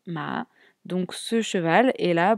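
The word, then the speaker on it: 马: Et à droite, on retrouve l'élément du cheval qui se prononce, lui, ma.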